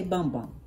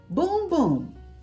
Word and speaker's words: Bum Bum: it I did say bum bum I I sure did I said bum bum but the correct pronunciation is boom boom not Bumbo but boom boom you know like boom goes to Dynamite and so as we